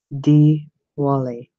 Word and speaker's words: Diwali: the Archangel names when you see an eye it is pronounced as an e look at Gabriel look at the name diwali which is tomorrow's festival di wal I D Wally that's how it's pronounced so when you see those eyes they are E's just thought I would